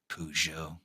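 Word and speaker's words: Peugeot: Uh, that's not how that's that's that's not how you that's not how you pronounce it. Pujo.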